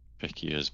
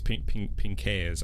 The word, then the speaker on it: Pinckaers: I've always pronounced it Pinckaers, which I know is wrong because I'm a silly English boy. I think it's Pinckaers. I think they kind of highlight the A a bit more.